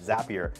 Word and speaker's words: Zapier: They have to actually create a commercial that Zapier makes you happier, right? That it rhymes with the word happier so that people would know how to actually say it.